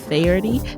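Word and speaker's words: Faherty: that's code hustle pro at farity that's spelled f-a-h-e-r-t-y brand dot com slash hustle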